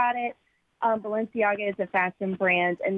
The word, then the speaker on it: Balenciaga: know anything about this how do you say the product Balenciaga Balenciaga they they had a Babylon